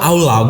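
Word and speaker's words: עלה: Adalah aulau gitu ya bacanya, aulau.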